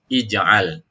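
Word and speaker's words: اجعل: Hamzah wasal ij'al. Ingat kaidahnya huruf yang ketiga harokannya fathah maka dibaca kasroh ya hamzah wasalnya.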